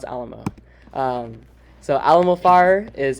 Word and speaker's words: Alamo: to talk about is Alam fire um it's pronounced Alamo not Alo or any of that um in case yeah it's pronounce Alamo um so Alam fire is an https networking